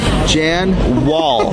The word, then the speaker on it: Jan Wahl: How you pronounce it? Jan Wahl.